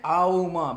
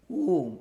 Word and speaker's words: Om: Because you don't chant Auma, but you pronounce only Om, only one sound.